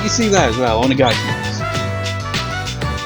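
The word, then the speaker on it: お願いします: It's like you see that as well, Onegaishimasu. It's like you see the at the end is S-U, which in Japanese is pronounced as C. But in Onegaishimasu it's silent.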